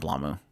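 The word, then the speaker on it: Blame!: I call it Blamu. Sorry. That's how they pronounce it.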